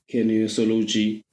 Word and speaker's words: kinesiology: So can you help me pronounce it? It's kinesiology, if I'm not mistaken.